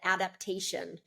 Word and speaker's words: adaptation: The stress is on the third syllable, te, te.